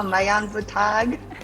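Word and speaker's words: Maayong buntag: Hello, Mayang Butag.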